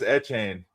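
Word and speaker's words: Etienne: Yeah, he said that's how you pronounce it now. It's what? It's Travis Etchan.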